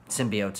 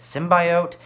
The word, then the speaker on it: symbiote: it's something for me in the trailers they pronounced it sim by out and as someone who's always pronounced to symbiote that always worked me